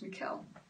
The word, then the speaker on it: Mikhail: me is it my it's not michael that's mikhail because so this song